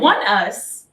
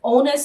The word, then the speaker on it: ONEUS: How do you even pronounce them? One Us. And then there's another group which is connected to them called One We. Here's the thing. I would have pronounced it as Onus and Oni.